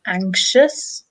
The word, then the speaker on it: anxious: I said before that you can use I'm anxious to say I'm a little bit scared yeah